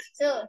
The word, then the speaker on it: thought: think سينك think صوت thought الجي سايلنت سينك يعني يفكر او يعتقد الماضي منها صوت والجي سايلنت الجي مش بتنطق سينك think صوت thought